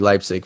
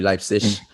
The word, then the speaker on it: Leipzig: Red Bull Leipzig, RB Leipzig for those people, RB Leipzig for the Germans. I have to say it properly because I lived there.